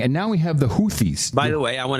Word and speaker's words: Houthis: Well, they say Houthis, but it's Huthis.